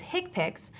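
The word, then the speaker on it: HCPCS: common procedure coding system HC PCS commonly pronounces hick picks are a set of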